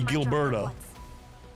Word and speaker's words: Gilberto: we'll be too late see it's a hard G Gilberto wait what now okay